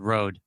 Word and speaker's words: Rhode: justin releasing a skincare line called road are you serious spelled the way your child's name is spelled are you kidding me oh it's called ro r-h-o-d-e oh man i'm gonna